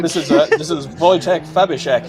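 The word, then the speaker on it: Wojciech: This is a This is Voytech Fabek. Voytech. Voytech. That's it. You have to excuse the difficulties I'm going to have with pronunciation, but Voytech in this beautiful S15.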